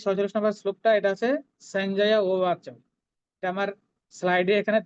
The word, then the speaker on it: সঞ্জয়: দন্তস্বরের পরে কি আছে? দুটো অক্ষর আছে, ইয় এবং বর্গীয় জ। ইয়টা অর্ধেক, বর্গীয় জটা পূর্ণ, তাহলে সঞ্জয়। সঞ্জয়, শেষের ইয়টা কিন্তু পূর্ণ, সঞ্জয় বলবো না, সঞ্জয়।